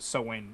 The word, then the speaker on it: Samhain: you're talking about it's it's spelled like uh samhain but it's pronounced sewing i believe aim okay